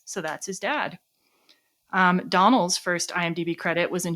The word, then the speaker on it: Domhnall: He himself pronounced it as Donald. So, I'm going to go with his pronunciation, but his co-stars were all calling him Donal. So, I don't know. But if I'm the guy himself said Donald, so Donald Gleason, we're going with it.